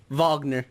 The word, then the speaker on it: Wagner: really I think his name was Wagner Vagner not Wagner is it spelled with